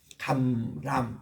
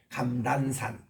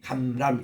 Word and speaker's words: 감람: 감람 이거를 발음 못해요. 그냥 감란산 란 이렇게 니은으로 발음하지 감람 이렇게 발음을 잘 못해요.